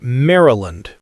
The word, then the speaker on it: Maryland: Locals often say Maryland. Very quick middle syllable. The Y almost disappears.